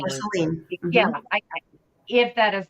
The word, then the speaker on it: Marceline: but I'm going to say her name is Marceline. Marceline. Mm-hmm. Yeah, if that is the correct pronunciation.